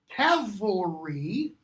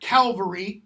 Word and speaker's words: cavalry: Cavalry, not Calvary, cavalry.